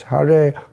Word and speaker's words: Hare: Actually, the Hare is not retroflex, so it's Hare Krishna, Hare Krishna.